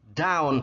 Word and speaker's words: down: Down, ke bawah. Kalau subuh nulisnya A, tapi bacanya jadi O. Dawn, gitu ya. Kalau ke bawah nulisnya O, tapi bacanya A. Down. Jadi ini dawn, ini down, gitu ya.